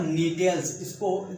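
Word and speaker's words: Gnetales: और नीटेल्स, इसमें जी साइलेंट है, इसको नीटेल्स बोलते हैं।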